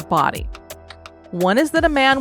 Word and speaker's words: Bodie: of the island and it is spelled b o d i e so at first you and I were thinking it was bod but it is said as body one is that a